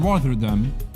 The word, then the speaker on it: Rotterdam: It's double T. Rotterdam. Yeah, Rotterdam. That's how you say it, right?